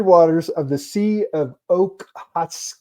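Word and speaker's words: Okhotsk: right frigid waters of the sea of Oakhat. It's o k h o ts k. Okay. Yeah, I can't pronounce that either. I know. I know it, but Sea of Otics or something deep deep inside Soviet territorial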